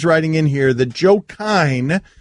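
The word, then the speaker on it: Kines: in here that Joe Kine, is it Kine or Kynes, the interim coach at Alabama? Doesn't he spell it with an S? Kynes.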